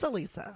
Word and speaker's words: Alisa: have you been saying I've been calling her Alisa it is Alisa oh thank God she